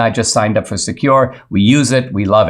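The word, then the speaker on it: Sekur: there a better way well yes there is secure it's spelled s-e-k-u-r offers secure instant messaging and email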